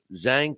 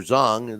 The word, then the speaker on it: Zhang: And that is Deontay Wilder's strength, is his power, and it's going to boil down to if Zhang can catch him, or Zhang, the way it's pronounced, if he can catch him.